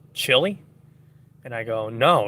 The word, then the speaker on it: Chili: they look at that name and they say chili you guys have a town called chili and i go no it's pronounced chai lai and i get i get looked at like